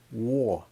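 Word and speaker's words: 我: It means I, and there's no other way to pronounce wo, W-O. I don't care if you're from East Kenya or Southern Japan or South America, Argentina, you will see this and you'll pronounce this as wo, W-O. The intonation might be a little bit high or low. It doesn't matter because it's always going to be O, and there's no other word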